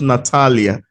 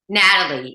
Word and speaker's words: Natalie: and I just see I've been pronouncing your name wrongly natal not Natalia Natalie yes y some people call